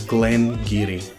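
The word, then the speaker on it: Glen Garioch: just dropped and the most common way to pronounce this distillery is Glen Geary just Glengarry Glen Levitt or they go and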